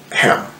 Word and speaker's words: Ham: fils de Noé euh les fils de Cam Ham qu'on dit en anglais qui est plus proche de la prononciation hébraïque d'ailleurs alors nous allons